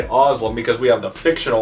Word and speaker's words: Özlem: Özlem is her real name. She is the princess here in Carolon. I know how to say her first name. I know how to say Özlem because we have the fictional Özlem we've been